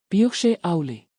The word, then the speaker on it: Bíodh Sé Amhlaidh: Pronunciación Phe Auli.